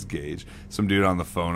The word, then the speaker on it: Gage: at this bottle caps godge it's Gage some dude on the